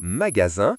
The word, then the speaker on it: magasin: La lettre S fait aussi le son Z lorsqu'elle est entre deux voyelles. Dans le mot magasin, le S est entre A et I.